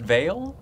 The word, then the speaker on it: Vaile: let me clarify first is your last name pretty pronounced veil yes okay so today is